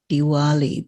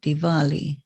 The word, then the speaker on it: Diwali: as a v and so when you get diwali they write it with a w this is because the transliteration came from germany but you have to pronounce it not diwali but diwali that's why there's a w because of german